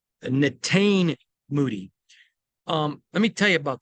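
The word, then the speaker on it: Netane Muti: I want to pronounce it, so I'm going to look at the pronunciation scale. Natane Moody.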